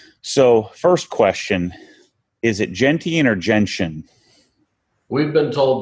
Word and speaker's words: Gentian: to choose okay so first question is it gentian or gentian we've been told by Porsche it is Jensen blue gentian gentian okay yeah that's what I was pronouncing it at first and then I heard